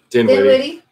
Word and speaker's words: Dinwiddie: Dinwiddie.